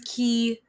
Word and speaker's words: chi: inner meditation, channeling his chi or his ki. Some people say that way. I think that's actually the proper way to say chi is ki, to do a lot of stuff.